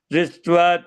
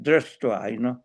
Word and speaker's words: दृष्ट्वा: In English way, you go like Dristva tu Panda Dristva. Here Prabhupada writes a Dristva. In Sanskrit, we pronounce like Drastva, Prabhupada, we go like the Prabhupada say in English.